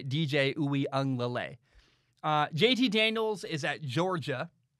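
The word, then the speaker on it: DJ Uiagalelei: how to say it i'm pretty sure you say dj ooey lay jt daniels is at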